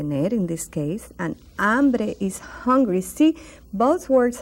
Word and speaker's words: hambre: Uganda see silent you don't pronounce it so it's like it's not there they need ambrie and